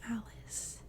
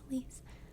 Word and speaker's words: Elise: Everyone thinks it's pronounced Alice. It's not Alice. It's Elise.